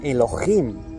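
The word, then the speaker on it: אֱלֹהִים: 430 de la concordancia Strong hebrea, que se pronuncia Elohim y que significa dioses, dioses verdaderos, Elohims.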